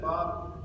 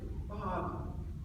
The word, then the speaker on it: Bob: And he used to say, "Bob," 2 syllables. When I was supposed to be a senator. He said, "Bob, is there love in her life?"